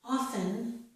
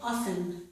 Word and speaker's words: often: This is often, but I did not pronounce the T in this word.